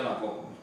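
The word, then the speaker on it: ἀναγωγή: Conduzindo-nos, em grego, anagoge, pronuncia anagoge, aqui dá até a norma de pronúncia do grego, né?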